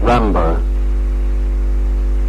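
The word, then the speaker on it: Rimbaud: Rambo. Spell it, please.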